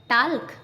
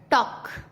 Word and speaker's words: talk: के से पहले TALK टाल्क, नो नो। टॉक, वॉक, चौक।